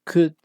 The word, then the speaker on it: could: la Pauta de pronunciación Es importantísimo que la l no se pronuncie es decir voy a